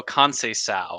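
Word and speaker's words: Conceição: in the grade Francisco con sa I've learned to give sees the S pronunciation there um yeah he does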